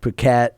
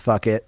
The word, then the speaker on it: Phuket: Yeah, and then when you go into the islands, that's where like Phuket, or it's actually pronounced fuck it, but when you go to the other islands, it's super cheap.